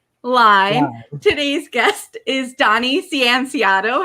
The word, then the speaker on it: Cianciotto: must go on live today's guest is donnie sienciato how are you doing today i'm doing great